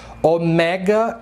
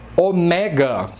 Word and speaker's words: ômega: E o ômega, tomem cuidado quando vocês pronunciarem essa letra grega, porque em grego se fala ômega e não ômega, como os brasileiros falam. Ômega, ômega 3. Em grego não, é ômega a pronúncia. É uma paroxítona e não uma proparoxítona.